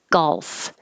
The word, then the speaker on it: golf: very lightly and briefly golf golf and you need it it's a very small movement but if you don't have any l at all it'll sound like goth and that just doesn't sound right gull so the more